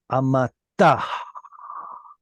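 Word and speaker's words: אֲמָתָהּ: Et dum dum dum dum amatah. Why did I put an H sound at the end?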